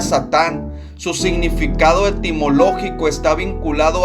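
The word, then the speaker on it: שטן: adversario o el acusador la palabra Satanás proviene del hebreo y se pronuncia satán su significado etimológico está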